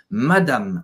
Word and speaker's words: Madame: final acab no mad e presta atenção também porque não esse som não fica nazal então não é Madame não é madame como a gente fala em português é Mad então segundo a ele não é anasalado pelo M Madame monsieur Madame Beleza